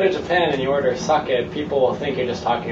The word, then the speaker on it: sake: out of me um a lot of people say saki yeah for uh sake sake right that's the correct way to say uh saki in Japanese yeah and that's another